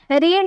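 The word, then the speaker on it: read: रीड यानी कि पढ़ना। बट इसकी सेकंड फॉर्म देखने में सेम लगता है। लेकिन इसकी प्रोनाउंसिएशन अलग तरीके से की जाती है। हम बोलेंगे रेड।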